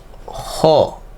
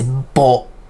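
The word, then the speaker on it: ぼ: Let's say, how about ho ni? How do you pronounce that? It's bo. Not ho, it's bo.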